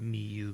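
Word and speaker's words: Miyoo: That's how it's spelled, miu mini.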